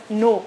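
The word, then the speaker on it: 노: great that was difficult to read that was difficult yeah because it is written roh but actually it's pronounced that no no yeah that's a fun fact Koreans in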